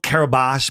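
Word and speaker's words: Kiribati: Now it's called Kabash but it's spelled Kabati.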